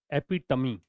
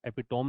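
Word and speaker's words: epitome: एपिटमी, एक तो pronunciation सुन लेना, एपिटोम नहीं है, एपिटमी है।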